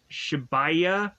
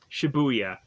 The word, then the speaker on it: Shibuya: of meeting in uh shibaya Shibuya Shibuya that's how to pronounce it so we have a